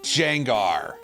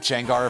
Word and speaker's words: Gengar: It's our old friend Jengar, whose name is absolutely not pronounced that way, but I'm being annoying.